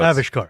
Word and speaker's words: Avishkar: They specified in the article when they announced this change that the stress is on the first syllable. Yeah, so Avishkar.